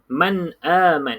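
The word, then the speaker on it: مَنْ آمَنَ: Jadi cara baca dekat sini kena izhar. Izhar tu maksudnya jelas lah tadi. Apa yang jelas? Jelasnya adalah huruf nun ini. Nun mati ni kena jelaskan dia bunyi man.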